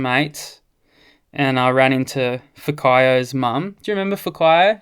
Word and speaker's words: Whakaio: How do you get Fakayo out of Whack? Well, it's spelled with a W. So the WH is pronounced F.